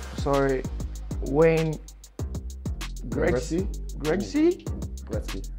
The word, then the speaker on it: Gretzky: I hope I don't pronounce the last names wrong. Sorry. Wayne Gretzky? Gretzky? Gretzky. Gretzky.